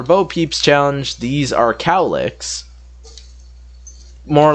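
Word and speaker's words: Cowlek: peeps challenge these are cowlicks more like spelt like cow lek but they pronounce it cow lick because it's cow and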